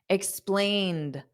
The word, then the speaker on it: explained: explain, da, explained. Now, the ED is just pronounced as a soft D, explained. So the ED does not add an extra syllable, da, explained.